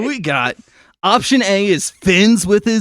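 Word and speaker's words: Finz: and is it just pronounced like Fins, or is it like Fins? Yeah, you gotta hard really Z it. Draw out the Z, and the glasses tilt a little bit when I said.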